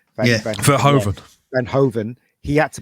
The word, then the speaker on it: Verhoeven: Yeah, and Paul Van Hooven, is it how you pronounce his name? Verhoeven.